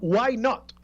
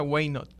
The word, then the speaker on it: Waynot: Creo que tu empresa se llama Why Not. Waynot, se pronuncia Waynot. Waynot, ok, pues no lo tenía bien.